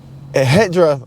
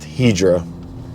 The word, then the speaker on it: Hedra: morning minutes um but this hedra excuse me it's actually pronounced hedra is my understanding but they are extremely